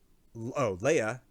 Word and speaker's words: Lege: 8 dialogue portraits for Leia, Lege, but pronounced Leia.